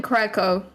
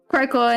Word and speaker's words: Craco: please please educate we we just call him craco craco and that's just great gotcha so it's like cracker but instead of a geck